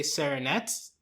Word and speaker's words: Saranette: Thanks to all of our current patrons, especially our patron of the podcast, Sarah, aka Saranette. Rhymes with marionette, but so Toy Story connection.